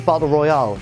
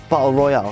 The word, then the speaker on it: Battle Royal: He says Battle Royale, like the popular Japanese novel and film. Yeah, he's a tit, he's an idiot. Battle Royale, it's Battle Royal.